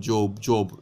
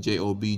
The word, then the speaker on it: Job: Some unbelievers called Job as in J-O-B, Job, but it's pronounced Job.